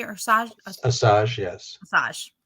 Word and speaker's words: Asajj: Asajj, yes. Asajj. It's like massage without the M.